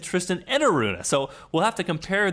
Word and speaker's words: Enaruna: He said Enaruna. Now, he so that's kind of a long E.